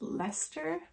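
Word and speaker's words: Leicester: saw that she had some bluefaced Lester that's how you pronounce it bluefaced leester wool in our store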